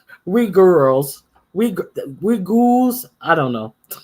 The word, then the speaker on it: Uyghurs: Okay, Uhurus is pronounced Uyghurs. We girls.